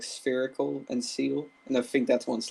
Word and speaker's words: Seel: It's literally just a seal face with two little tusks. Then I can't get over Seal's name. It's just Seel. Seal. It's just Seal.